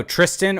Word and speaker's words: Tristan: actual the the final the N at the end is silent so you're not even supposed to pronounce the n um but yeah so